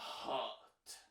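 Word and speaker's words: H.O.T.: son premier boys band qui s'appelle les I-5 Teenagers, mais qui se prononce Hot.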